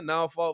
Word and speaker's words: Norfolk: colonized yeah i'm saying you got to say it like it said yeah now fall virginia uh south side out